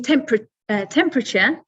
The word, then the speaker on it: temperature: It's quite short. You've got lots of short vowels. Temperature. And I'm sure if you say it yourself in your head or at home, you're in your own language, temperature, it's a lot longer.